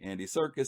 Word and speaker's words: Andy Serkis: Andy Serkis.